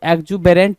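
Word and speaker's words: exuberant: यू बी ई आर ए एन टी सो एग्जुबेरेंट बोलता तो बात बनती यहां पर ठीक है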